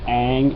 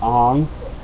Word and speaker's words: Aang: Instead of Aang, it was Ong, and instead of Sokka, it was Sokka, and instead of Iroh, it was Iroh.